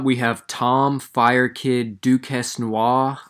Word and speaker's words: Duquesnoy: have Tom fire kid Duke Heston wah I'm pretty sure that's how you pronounce it because he's French versus Terry on flash